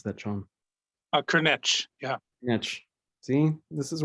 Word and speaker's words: Cârneci: Did I mispronounce that, Sean? Cârneci, yeah.